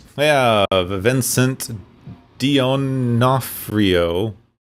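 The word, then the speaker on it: D'Onofrio: I have Vincent Dionafrio. Denafhrio. I gotta say Denafhrio, but it's spelled Dionafhrio.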